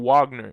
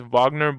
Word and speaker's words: Wagner: Wagner because he and his name's not Wagner it's Vagner but you know for